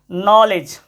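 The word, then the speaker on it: knowledge: और देखो यहाँ पे एक शब्द जो पहले भी देखे थे हम लोग, नॉलेज, हालांकि इसमें के और डी दोनों साइलेंट है, नॉलेज, मतलब ज्ञान, नॉलेज मतलब होता है ज्ञान, नॉलेज मतलब क्या होता है, ज्ञान होता है।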